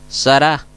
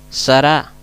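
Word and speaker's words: שרה: podemos ver el nombre sará sará fíjense bien la acentuación la acentuación se carga más en la segunda sílaba debajo de la res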